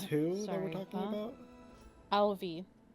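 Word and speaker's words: Ailbhe: and this is who that we're talking about Alvi how do you spell that Al a i l b h e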